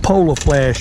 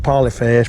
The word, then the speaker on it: polar flash: It comes like that, but I put the polar flash on it. I used to call it polyflash, but I found out I was calling it wrong.